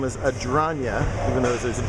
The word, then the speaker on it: Adragna: He said Adragna like lasagna, so that's how I learned to pronounce it.